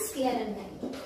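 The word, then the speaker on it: sclerenchyma: Please इनकी pronunciation और इनको बोलने का तरीका अच्छे से सीख लेना। पैरेन्काइमा, कोलेन्काइमा एंड स्क्लेरेन्काइमा।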